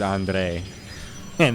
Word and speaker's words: Andrea: It just It just sounds like his name is Andre and then you just put a Italian pronunciation on it.